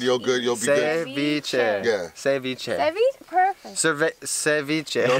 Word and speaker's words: ceviche: Just think of the V. Cevi. Ceviche. There you go. Ceviche. Cevi. And it's not spelled with an S, it's spelled with a C.